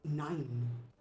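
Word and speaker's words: nein: For the non-internationals, that is no in German. I mean, it's pronounced, but No? 9? it's 9. Yeah, 9. Not quite. Oh, it's Well, accent. whatever. You can also say ne, although it's a regionalism.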